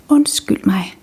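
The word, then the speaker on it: undskyld mig: I do, then you might want to say scoot my which means excuse me.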